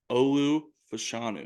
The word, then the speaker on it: Olu Fashanu: the number one overall pick how do you pronounce his name Olu fashanu there you go Penn State that a boy